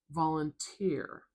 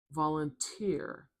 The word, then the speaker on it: volunteer: Another clue as to why the stresses at the end here. Do you hear that t sound? Listen when I say it again. Volunteer. Volunteer.